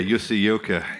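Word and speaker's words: Jussi Jylkkä: Yeah, Jussi Ilkka. Yep. That's how you pronounce it.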